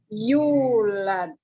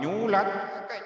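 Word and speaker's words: يولد: Nah, yalid walam yulad. wa lam yulad Lad, lad Bukan kemudian nyulat apa macam-macam. Lam nyalid, walam nyulat, jangan dientengkan lah bacanya itu.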